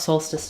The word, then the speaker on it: solstice: solstice today um and to pronounce it we have first syllable stress Soul um like in the Latin for the sun um um so it's also the same as the word um Soul um so we have